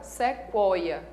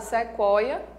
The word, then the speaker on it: sequoia: Uma dica importante é com relação à palavra sequoia. Na palavra sequoia, esse U é pronunciado, tá? Ele não é uma letra diacrítica.